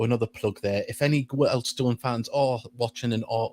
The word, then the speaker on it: Wealdstone: It's Wealdstone. Yeah, we're very proud of the name, and if that's the way it's pronounced.